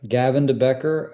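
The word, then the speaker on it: Gavin de Becker: So then then you move on to is it a company called Gavin Debecker if I pronounced that correctly? Yeah that's correct. Gavin Debecker.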